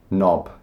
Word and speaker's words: knob: Knob. You might not find yourself needing to use the word knob. There's the doorknob. Doorknob. We don't pronounce the K.